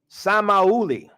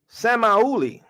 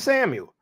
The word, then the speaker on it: Samuel: for Samuel Strong's h8050 Samuel transliteration pronunciation samahuli Samuel pronounced semioli not Samuel according to Strong's Somalia so my Somali